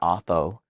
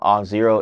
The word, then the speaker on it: Auth0: off zero it's not AO but yes the way to pronounce off zero is off zero with the number zero and it's not off o and it's a whole